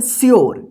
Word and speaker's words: sure: SURE, इसको क्या पढ़ेंगे, श्योर, क्या पढ़ेंगे, श्योर, श्योर, श्योर, इसको ध्यान रखिएगा, श्योर, सूर्य मत पढ़िएगा या सुर, ठीक है ना।